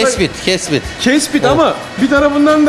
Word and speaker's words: Kespit: Burada Kepsut halkını ben hep Kepsut diye telaffuz ediyorum. Burada, Kespit.